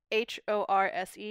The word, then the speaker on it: horse: get whether but whether two pronunciations of horse which is very hard for me to do so h o r SE is horse and HOA r SE